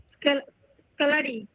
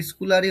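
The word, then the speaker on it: scullery: স্কেলারি। School গাড়ি। ওটা স্কুলারই হবে না ভাই, প্রোনাউন্সিয়েশনটা হবে কি? কি বলেছিলাম প্রোনাউন্সিয়েশনটা কালারি হবে স্কালারি। কালারি কালারি হ্যাঁ স্কালারি হবে, এটা স্কালারি হবে।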